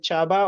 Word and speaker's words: Csaba: it correctly is it Chaba or sabba you you got it well so CS is like CH it's a Hungarian name pretty popular in Hungary